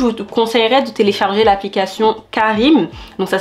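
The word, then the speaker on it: Careem: du coup je vous conseillerais de télécharger l'application Karim donc ça s'écrit C a r e e m c'est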